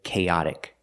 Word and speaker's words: chaotic: But with chaotic, the stress is on the second syllable. Cha. Chaotic. Let's look at the pronunciation of chaotic.